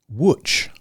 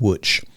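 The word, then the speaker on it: Łódź: go Lots is pronounced witch I would not have guessed that from looking at the the letters it looks like ELO Diaz but it's pronounced witch so which is Poland's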